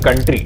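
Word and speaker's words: coup: या फिर opposing ideology की पॉलिटिकल पार्टी भी हो सकती है। इस दूसरे केस को कू कहा जाता है। प्रोनाउंस कू किया जाता है, लिखा ये ऐसे जाता है।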